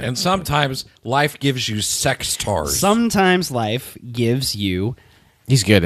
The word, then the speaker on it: Sectaurs: You put a D at the end before, which is not appropriate.